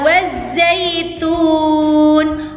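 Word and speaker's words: والزيتون: Selanjutnya pada lafal yang kedua adalah wazzaitun. Wazzaitun. Ya. Silakan kalian melihat panah ke atas. Itu adalah hukum bacanya asyamsiyah sama dengan wattini tadi. Karena ada alif lam bertemu dengan huruf za.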